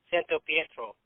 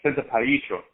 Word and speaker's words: Santapietro: I'm pretty sure it's Mexican because you say it like Santo Pietro. No, it's Santapietro.